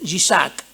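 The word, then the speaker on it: יצחק: Viene del hebreo, ¿ya? Que se pronuncia Yishak.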